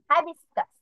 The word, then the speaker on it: Hibiscus: হিবিস, হাইবিস্কাস, হেবিস্কাস, high হাইবিস্কাস। হাইবিস্কাস, Yes, জবা। জবা। অনেকে হিবিস্কাসও বলে, বাট এটা আমেরিকান যে প্রোনাউন্সিয়েশনটা, এখানে ওরা বলে যে হাইবিস্কাস।